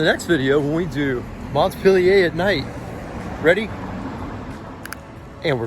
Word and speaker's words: Montpelier: So number one, how do you say the name of the state capital? Montpelier. Montpelier. See, I was even wrong. I was Montpelier or Montpellier. Yes. Right, yes. Montpellier for the French.